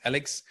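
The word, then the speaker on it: a11y.css: project on github called alex so ali.css but pronounced alex and they have many more selectors and tests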